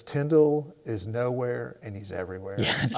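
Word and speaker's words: Tyndale: yeah and I'm impressed you said Tyndall correctly was a tenday oh yeah rhymes with spindle so you are a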